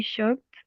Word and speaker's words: shocked: just to focus right how do we pronounce this verb sh good shocked shocked you see the difference between present shock and past shocked good so um that's